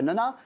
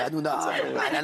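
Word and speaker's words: Hanouna: la personne de Cyril Nona euh ne va pas dans un sens défavorable. Ah, c'est announa. Ananas, c'est le fruit.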